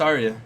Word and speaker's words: Arya: the actress who plays Arya Stark is it ARA or Arya what do you say it's Arya Arya I heard people say ARA that's how I pronounced in my head when